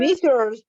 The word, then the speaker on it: Mrs: Not Mister. Mrs. Mrs. Not Misters. Misters. It's not plural.